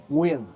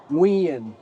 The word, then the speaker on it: Nguyen: the Vietnamese last name Nguyen, right? Like we would say Nguyen, like it's a two-syllable word, Yeah. but they'll say it very fast, as if it's only one syllable.